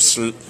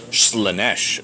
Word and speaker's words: Slaanesh: So thank you, Brenton Weiss, and best of luck with your Demons of Slaanesh? Slaanesh. Oh, the emphasis is on the other syllable.